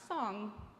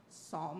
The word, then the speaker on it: Psalm: at Kids Camp was Psalm not song Psalm like your palm with a silent P so tricky one Psalm